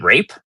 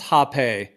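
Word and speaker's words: rapé: it looks, yeah, well, it's pronounced Hape, is how it's pronounced. I mean, some people say Rape, but yeah, it's So it's like snuff.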